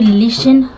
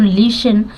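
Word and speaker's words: listen: लिसन अब देखेंगे कि लिसन यहां पे टी साइलेंट है एस के बाद टी आता है तो साइलेंट रहता है तो लिसन लिसन में टी साइलेंट रहता है लिसन मतलब सुनो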